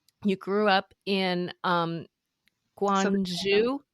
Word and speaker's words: Guangzhou: You grew up in um Guangzhou? Guangzhou.